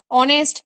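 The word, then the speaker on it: honest: তার মানে যেখানে এইচ সাইলেন্ট থাকবে সেখানেও কিন্তু আমাদের এরকম অ্যান বসাতে হয়, যেমন আওয়ার, অনেস্ট, এই সমস্ত জিনিসগুলোতে আমাদের অ্যান বসাতে হয়।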